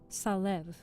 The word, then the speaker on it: Salève: The French mountain, often called Mount Salève, is pronounced Salève.